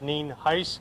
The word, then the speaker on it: Nienhuis: Again, for the record, Sheriff Al Nienhuis. It's spelled Nienhuis, and it's pronounced Nienhuis.